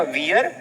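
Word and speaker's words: wear: तो ये जो वर्ड है ना वियर, इसको एक्चुअल में प्रोनाउंसिएशन है इसका गलत किया जाता है। पीपल कॉल इट वियर, ये वियर नहीं है, ये वेयर है, वेयर, वेयर क्लोथ्स।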